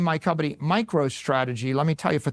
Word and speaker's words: MicroStrategy: Now, Now I name my company MicroStrategy. Let me tell you, for 30 years, half our customers mispronounced it, microstrategies.